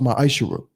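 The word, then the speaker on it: מעשר: It means 10th in Hebrew and is pronounced ma'ashera.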